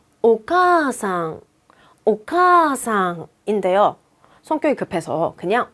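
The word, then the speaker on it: お母さん: 지금은 장음 역할을 한다는 거거든요 만약에 원래 정확한 발음은 오카상 오카상 인데요 성격이 급해서 그냥 오카상이라고 하지 않고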